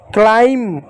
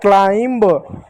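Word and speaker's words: climb: क्लाइम, क्लाइम म होता है, ब नहीं होता। कुछ बच्चे पढ़ते हैं क्लाइंब, ब नहीं होता, क्लाइम।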